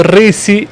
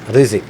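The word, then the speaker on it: Rizk: El apellido Risi, y por qué no hay que compararlo con el Riseque.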